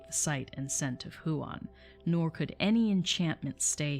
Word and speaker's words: Huan: was named juan or huan it's probably huan yeah because that's not a diphthong so it's who on two syllables huon he was not born